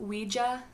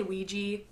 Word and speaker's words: Ouija: The creators asked the board what they should name it, and it's spelled out Ouija. That is how you pronounce it. I usually say Ouija, so don't judge me. Ouija sounds dumb.